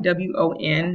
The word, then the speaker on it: won: So the currency bills in Korean are called won, W-O-N, not one, but won. Spelled like won, I won something, but it's like won.